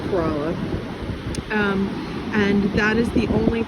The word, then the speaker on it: Corolla: kerala and coroba corrales spelled like corolla but it's corolla and that is the